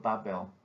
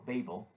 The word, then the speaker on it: Babel: famous paintings depicting the tower of barbell or babel as it is pronounced in english the story of babel